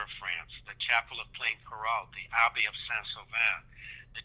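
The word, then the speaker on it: Plaincourault: these words maybe, but you visited, is it Plaine-Carrault? Is that how you say it? Yes, Plaine-Carrault.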